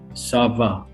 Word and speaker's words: ça va: can see how are you in two sentences sava sava como sava okay for how are